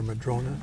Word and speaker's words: madrona: That's a madrone or madrona, depending on how you choose to pronounce it.